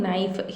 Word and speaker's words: knife: parspartic fertilizer then using knife here k is silent so nife that is nitrogenous fertilizer